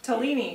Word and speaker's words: Tolini: Tolini. It's Tolini. Italian. So how do you pronounce it? Tolini. Tolini. Tolini. Almost like tortellini, but Tolini.